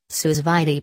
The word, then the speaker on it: sous vide: menu what to cook sous vide pronounced sous-vide cooking offers the perfect